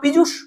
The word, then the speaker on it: পীযূষ: কিন্তু এই যে PIJUSH লিখেছি, এটাও পীযূষ, উচ্চারণ হচ্ছে পীযূষ, এটা বাংলা শব্দ।